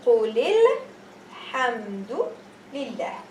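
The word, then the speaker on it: قل الحمد لله: If I'm continuing reading, this Hamzat al-wasl will make the alif be silent. So I'm going to say Qul lil, and I will ignore this. So it's going to be Qulil. Qulil. I won't pronounce the Hamzat al-wasl. I won't pronounce this alif. It's going to be Qulil Hamdu Lillah. Qulil Hamdu Lillah. But if I am not reading, continuously, I am saying Qul Alhamdulillah.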